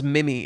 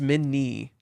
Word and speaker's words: Minnie: And yeah, you always spell it as Mimi. It's Minnie. Minnie, like tiny.